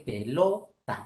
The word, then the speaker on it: pelota: Si ponemos el acento en la última, sería pelota. Pásame la pelota. No, no, no, no, no. Grave, pásame la pelota. Pedrújula, pásame la pelota. La forma correcta es pelota. Entonces, grave.